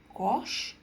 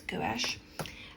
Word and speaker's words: gouache: And it's interesting in America they pronounce that gauche. But I think it's gouache.